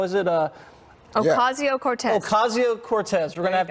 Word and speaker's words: Ocasio-Cortez: I can't pronounce her last name. How is it? Ocasio-Cortez.